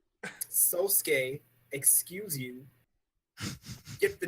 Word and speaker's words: Sosuke: Jake mispronounced Aizen's name. Sosuke, excuse you.